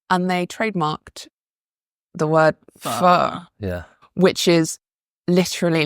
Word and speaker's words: pho: I remember I was ordering pho, and the waiter corrected my pronunciation. So it was pho.